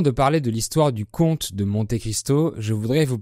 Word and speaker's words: compte: ensuite il y a l'orthographe du mot compte C o m p T e ici ça veut dire le calcul l'action du verbe compté 1 2 3 et cetera donc la lettre P est muette et enfin il y